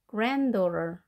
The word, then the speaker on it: granddaughter: T 발음을 R 발음으로 하시고 granddaughter 두 개 합해진 단어에서 가운데 D는 발음되지 않겠습니다. granddaughter. 강세는 앞에 있습니다.